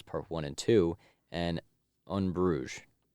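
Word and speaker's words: Bruges: one and two and unbrugge that's how how it's pronounced for some reason yeah I didn't know that I would have said in in brudges I always thought it was in brudges and then um so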